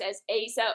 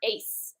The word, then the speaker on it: Asa: did some research and it's heavily pronounced as asa or ace uh same thing okay